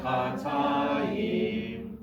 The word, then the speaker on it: Chatayim: Bayar Chatayim. Good. The accent on the ta, right? Because that's where the meteg is.